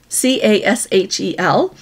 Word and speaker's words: Cashel: It's C-A-S-H-E-L. And they pronounce it Rock of Cashel. That's how they say that there.